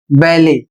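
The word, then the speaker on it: ballet: अगला शब्द है बी A double L ई टी जो फ्रेंच भाषा से आया हुआ है और इसे पढ़ा जाएगा बैले और इसका अर्थ होता है एक शास्त्रीय नृत्य शैली।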